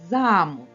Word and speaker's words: замок: ми покликали це слово наголос падає на звук а звук а є наголошеним А якщо ми переставимо наголос на звук о замок то мить замок перетворився на замок Ось так наголос чарівник